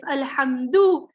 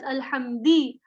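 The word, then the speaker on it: الحمدُ: For example, in Surah Al-Fatiha, Alhamdulillahi Rabbil Alameen, if Alhamdu is read as Alhamdi, Alhamda, the meaning is void.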